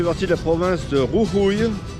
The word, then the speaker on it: Jujuy: Ce petit village fait partie de la province de Jujuy, Jujuy qui s'écrit J-U-J-U-Y.